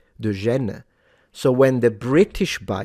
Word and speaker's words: Gênes: Gênes, it's spelled with a G, but the French pronounce the G as a "j", right? De Gênes.